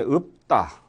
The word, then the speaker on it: 읊다: 그 다음에 읍다. 이것도 읊다가 아니고요. 자, 읍다로 발음 나죠.